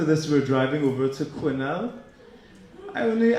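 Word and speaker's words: Quesnel: to quinel I only I've only ever seen the town's name written you know so till I got here and somebody pronounced it properly I kept seeing yeah we're playing in qu now you know and BC qu and people stare looked at me blankly but uh the uh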